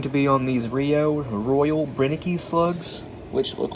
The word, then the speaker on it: Brenneke: And yes, I know it's pronounced Brenneke, but the box looks okay.